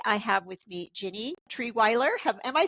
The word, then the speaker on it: Trierweiler: Today I have with me Jenny Treeweiler.